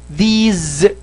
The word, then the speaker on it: these: And ملاحظة سريعة إنه لا تنطق هذه these ولا هذه those، النطق الصحيح هي بالزا، these those، تماما زي ما بننطق هذه.